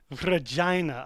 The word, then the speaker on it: Regina: Regina, oh my God. What rhymes with vagina? Regina.